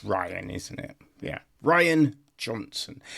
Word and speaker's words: Rian: by Rain No, it's Ryan, isn't it? Yeah. Ryan Johnson. Well, it's spelled R I A N. You know what I mean? But yes, now I I just remembered is actually pronounced Ryan Ryan Johnson.